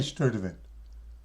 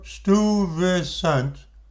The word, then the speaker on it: Stuyvesant: I can't say it right. I say Sturtevant. It's Stuyvesant. Peter Stuyvesant.